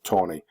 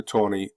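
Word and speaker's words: Taney: was uh Roger B Tony retain T NE y although the family pronounces it Tony Roger Tony uh wrote famously that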